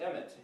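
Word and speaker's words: אמת: It's pronounced the way, this is, remember, an A, an M, and a T, but that's where we get the word emet, E-M-M-E-T, which is a guy's name, emet.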